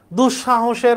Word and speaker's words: দুঃসাহস: দুঃসাহসের উচ্চারণ দেখো বিসর্গ আছে, বিসর্গের পরে যে বর্ণটা থাকে সেই বর্ণটা দ্বিত্ব হয়, তাহলে এই তালবসা দুইটা হয়েছে, কারণ শয়ের উচ্চারণ এখানে দুঃসাহস, শয়ের মতো, তাহলে তালবসা হবে, তাহলে দুঃসাহস, এখানে হস চিহ্ন দিতে হবে।